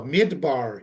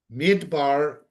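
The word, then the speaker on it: מדבר: No, Midbar is desert. Midbar, different vowels, is desert. Midaber is speaking.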